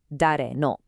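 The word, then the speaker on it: 誰の: And here it is, dare no, pronounced dare no.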